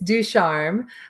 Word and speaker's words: Ducharme: correction of your lesson it's ducharme um and it's hard to say everyone mispronounces it so it's not a problem i say just say with a french accent and it'll sound good however you say it